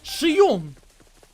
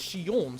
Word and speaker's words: Xi'an: said her name but he kind of said it kind of french-like so he was like shium so that's why i kind of that's wrong right the way he pronounced it is she on so that's why i kind of went let me make him french it's xi'an what's huh that's funny there